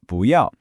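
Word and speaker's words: 不要: This is 不要, pronounced 不要.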